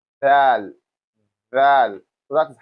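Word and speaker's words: ذ: So now we have the next one which is what your tongue touches your upper teeth here like this. I believe you can get it closer to you like this. Val.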